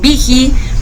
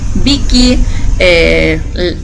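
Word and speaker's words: Büchi: En Sudamérica nos dicen Viji, Vicky, no sé, la verdad es que tenemos diferentes variaciones en Estados Unidos y Canadá, como se pronuncia es Buki.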